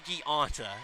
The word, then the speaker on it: Gianta: Mikey Gianta is how you pronounce that.